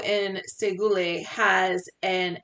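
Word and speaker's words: Shekoli: So in here, I just want this to say, hello in Oneida, that is pronounced Segule.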